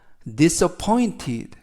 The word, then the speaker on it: disappointed: 이번 표현은 disappointed, disappointed, disappointed 라고 발음하시면 되겠고요. 이때 단어가 약간 긴데 강세가 포에 있습니다.